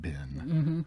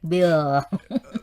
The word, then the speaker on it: bill: To if you want the check, to pronounce it bin. bin. Yeah, we adopt this word and pronounce it the Thai way, like Right. bin, check bin. Yes. Nobody will say check bill.